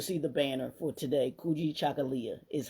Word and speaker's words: Kujichagulia: regular page you'll see the banner for today cooi chakala is how you pronounce it kuoi chakala selfdetermination the second day of K Quanza U